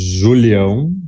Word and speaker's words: Julião: My last name is Julião, if you want to try to pronounce that. Julião. Julião.